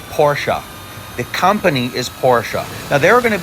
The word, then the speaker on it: Porsche: this it's just like Porsche the company is porsa now there are going to be people in